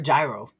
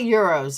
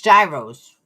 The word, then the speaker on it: gyro: Now you guys got me in the mood for a gyro. Nope, it's not euros. It's gyros. Gyro. G Y R O.